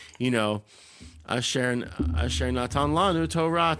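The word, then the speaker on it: תורה: But it's like all of that is, it's Asher natan lanu Torah emet, right? So all the emphases are on the end of the words. And then if you do the Eastern European Ashkenazi pronunciations, Asher nosan lanu Toiras emes. So everything's on the front of it.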